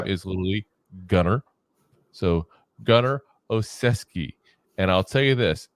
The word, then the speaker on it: Olszewski: teamer his name is literally gunar so gunar oesi and I'll tell you this if you look at the last name you will never think it's pronounced oesi but it's that's to pronounced I watched highlight